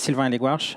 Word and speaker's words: Sylvain Hellegouarch: so today we're going and my name is Silvia and egg wash I'm only saying my name because it's not easy to pronounce not sure so just you know call